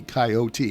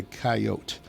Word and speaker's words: coyote: Yes, you don't have to do the coyote. It's not a three-syllable word. It's a two-syllable word in some parts of a coyote.